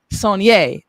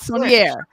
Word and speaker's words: Saunier: That is an amazing woman who has truly been Saunier, not Saunier. That's listen, when people pronounce her name wrong, it annoys me a little bit more than it annoys her.